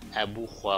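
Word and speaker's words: Ubu Roi: में उसने लिखा था उबुराय, जिसकी फ्रेंच प्रोनाउंसिएशन है एबू ख्वा फ्रेंच.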